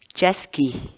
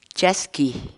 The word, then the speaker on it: chaskiy: de vídeos en la que te enseñamos a pronunciar algunas palabras en quechua así que nuestra palabra del día por hoy es yasky yasky yasky la palabra quechua chasqui en español significa